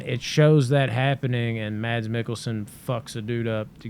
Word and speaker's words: Mikkelsen: Mickelson? No, Mads Mikkelsen.